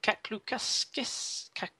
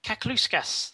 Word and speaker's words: Kakluskas: Joshua Kaklukaskis. I always get Josh's name wrong. Kakluskas. There we go. Hey, much better.